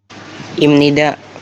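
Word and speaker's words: 입니다: Imnida, cara bacanya imnida. Ketika bacim biep ketemu nin dibaca jadi mim.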